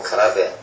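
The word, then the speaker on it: 空手: 빌 공짜가 들어가 가지고 공수도 발음은 일본에서 단 당수도 가라데 예 공수도 가라데 바람은 같습니다 근데 그 이제 일본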